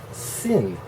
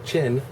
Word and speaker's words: chin: And she mispronounces it sin, because they don't have that pronunciation sound. So chin becomes sin.